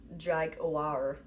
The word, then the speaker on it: Dragathar: All right, meaning coming into contact with the air, well, it has a name, Dragathar, but you just pronounce it Dragawar.